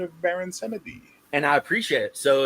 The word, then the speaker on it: Samedi: But with the way the Creoles say it is they don't say it like French. They don't say samedi. They say samedi because there's an E in the middle. So they say samedi, right?